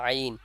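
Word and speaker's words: عين: কোথা থেকে উচ্চারণ করব আইন বলার সময় হলকের মধ্যখান থেকে কোথা থেকে হলকের মধ্যখান থেকে আইন যখন উচ্চারণ করব টানবেন চার আলিফ পরিমাণ তাহলে দেখবেন সঠিক উচ্চারণটা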